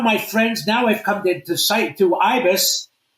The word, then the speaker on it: Ibis: I played at a place called Ibis. Does this go across? Yes. IBIS.